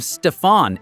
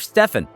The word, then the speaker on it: Stephen: During the pitch, someone from Nike mispronounced Steph's name, calling him Stefan instead of Stephen.